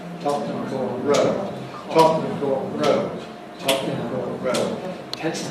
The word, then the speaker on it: Tottenham Court Road: When London was being built, there was a farm called Tottenham Court, and that had main stress on the court. Well, that farm disappeared hundreds of years ago, but leading to it, where it was, there is now a road, a well-known road, called Tottenham Court Road. And we see the same principle, that Tottenham Court, when it's followed by road, then becomes Tottenham Court Road, Tottenham Court Road, Tottenham